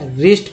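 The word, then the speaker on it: wrist: अब जैसे देखिए एग्जाम्पल में डब्लू के बाद आर आ गया तो डब्लू का उच्चारण नहीं किया गया, रिस्ट पढ़ते हैं इसे, डब्लू के यानी डब्लू के बाद आर आया तो डब्लू का उच्चारण नहीं हुआ, रैपर पढ़ेंगे।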